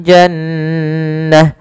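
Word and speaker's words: جَنَّة: Jannah. Maka di sini nun tasdidnya kita namakan dengan bacaan gunah. Cara membacanya adalah suara nunnya ditahan dulu nnya jannah. Tidak langsung jannah.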